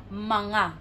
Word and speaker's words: mga: then n in between so it's manga manga feels like there's an invisible n and G in between this one is actually